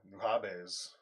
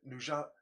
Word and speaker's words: Nujabes: Oh no, Nuhabes. I think Nujabes. That is how you fucking pronounce it.